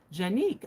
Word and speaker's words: Janique: But what I was saying to you guys is this, and Jen Neck, what we're talking, Miss Sanders, what we're talking about tonight is a couple of things. One of them being, it's pronounced Janique.